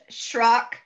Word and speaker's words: Srock: My husband says it's Rock with an S in front of it. I pronounce it with I give it an H, Srock, 90% of the time, and I've been married